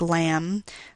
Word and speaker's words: lamb: a word like autumn, the B in a word like lamb, the K in a word like not.